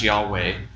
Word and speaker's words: Yahweh: It has the biblical name for God on it, the YHWH, that we think must pronounced Yahweh.